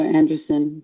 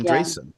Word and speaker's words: Andreessen: And also Anderson, Oh, and I always say it wrong. that's right, and Anderson. also Marcus Yeah, Andreessen of Andreessen Anderson.